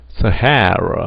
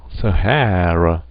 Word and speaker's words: Sahara: 사하라 사막인데 사하라 사막을 우리도 세 개가 들어간 또 대표적인 단어인데 액센트가 어디 오냐고요? 이음절에 오게 됩니다.